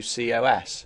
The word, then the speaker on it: cos: the word cosine is shortened to cosos pronounced cos and as with the